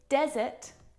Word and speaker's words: desert: Desert and dessert. There is a slight pronunciation difference here, and it's simply a matter of syllable stress. In desert, the stressed syllable is the first syllable.